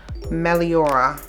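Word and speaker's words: Meliora: First of all, first of all, I am saying it wrong. It is Melora.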